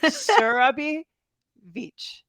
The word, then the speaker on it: Surabhi Veitch: Surabhi Veitch.